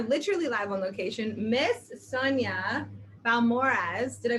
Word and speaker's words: Balmores: Miss Sonya Balmores, did I pronounce it right? Balmores. Balmores, Yes.